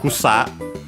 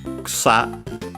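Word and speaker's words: 草: And uh uh then we have uh kusa uh kusa uh accented on the last syllables on the s and of course the is barely heard if at all between unvoiced consonants means grass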